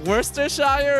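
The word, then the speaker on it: Worcestershire sauce: is that it it's officially spelled Worchester Shire sauce but that's not how it's pronounced it's like worsters Shire or something worse or shy worse worse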